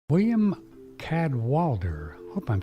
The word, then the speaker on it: Cadwallader: William cadwalter hope I'm saying that right let's see is that how you say your name William is that how you say it very very close William Cadwallader 10 Walter Walter there's an x-ray in there